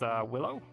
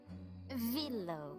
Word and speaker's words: Villo: So, you said your name was Willow? Villo.